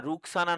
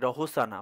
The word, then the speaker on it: Roshana: হ্যাঁ রুকসানা নয়, আমি একটু মিস্টেক করেছি, আমি ভুল করেছি। ওটা হচ্ছে বানানটা হচ্ছে ROSHANA, রহসানা বা রসনা, ঠিক আছে, রুকসানা নয়, যে ওটা আমার মিস্টেক ছিল উচ্চারণে, ওটা ঠিকই বলেছো।